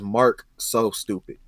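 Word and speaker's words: MarcSoStupid: Yeah, sometimes everybody look at the C and the S and it be like the S is silent, but it's Mark so stupid.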